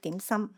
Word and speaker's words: 點心: Now, a common Chinese name for these small food items found in the Astana cemetery is dianxin, widely known by its Cantonese pronunciation dim sum, meaning small bite-sized portion of foods that can be sweet or savory.